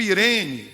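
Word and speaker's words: Ειρήνη: versão grega do Antigo Testamento, é traduzido como Irene, é escrito Eirene, E-I-R-E-N-E, mas é aí, esse ditongo aí, em grego se pronuncia aí, Irene, nome de mulher, Irene, diga Irene.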